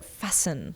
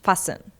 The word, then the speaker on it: fasten: Next one is fasten. Fasten. Look at this. It's is like fasten but we do not pronounce t.